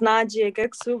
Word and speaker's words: Najib: manufacturing and services okay the next name on the list is nasir i'm sorry for maybe mispronouncing this yes my name is najib okay i'm so sorry